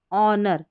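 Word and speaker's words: honour: यहाँ है इसको ऑनर, ऑनर क्योंकि एच साइलेंट है, ऑनर, और यह है आवर, आवर यानी कि घंटा, ठीक है, इस तरीके से।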